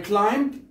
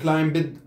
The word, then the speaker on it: climbed: Next بعد إذن I climbed. لاحظ البين ما تنطق، لا نقول climbed.